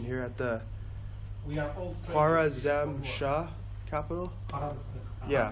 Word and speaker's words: Khwarazm Shah: So I read that was Genghis Khan's first attack at, pardon my pronunciation here, at the Khwarazm Shah capital. Yeah. Khwarazm Shah, yes.